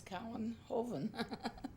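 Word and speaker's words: Kouwenhoven: and I said well it's just like cow in heaven except it's cowan joven so then they call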